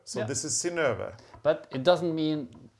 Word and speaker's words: Synnøve: It's Synnøve, and it's spelled S-Y-N-N-O-V-E. The O has a slash, which is so that it can be pronounced as Ö. So yeah. This is Synnøve.